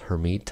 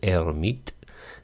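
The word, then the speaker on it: Hermite: solution and they're called the herm hermet polynomials hermet i guess most americans say the french pronunciation is er meet and he was a french guy and for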